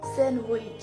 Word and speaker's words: sandwich: স্যান্ডউইচ। কি? স্যান্ডউইচ। ডি কই গেল? ইংল্যান্ডে চলে গেছে। ইংল্যান্ডে চলে গেছে? হ্যাঁ। ডি তোমরা ইংল্যান্ডে নিয়ে গেছো। ভিউয়ার্সদের কথা, ডি নাকি ইংল্যান্ডে চলে গেছে, এজন্য স্যান্ডউইচ হয়ে গেছে কি উইচ।